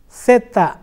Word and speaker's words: zapatos: ¿Cómo se pronuncia Z-A-P-A-T-O-S en español?